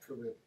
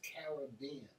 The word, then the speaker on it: Caribbean: Most Americans say the word Caribbean, but it's not Caribbean. It's Caribbean.